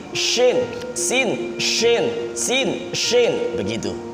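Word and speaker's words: شين: Sin berarti bibir yang bawah ditarik, sin gigi yang belakang, gigi yang bawah kelihatan. Tetapi kalau yang shinnya ini sama-sama gigi atas dan bawah sama-sama kelihatan. Sin, shin, sin, shin, sin, shin, begitu.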